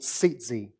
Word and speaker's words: tzitzit: Now, tzitzi, as it's pronounced, it looks like tzitzit, but it's tzitzi, actually first appears in